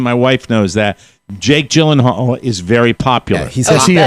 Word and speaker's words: Gyllenhaal: It's Gyllenhaal. Gyllenhaal. Because, by the way, the reason Maddie knows that is the same reason my wife knows that. Jake Gyllenhaal is very popular.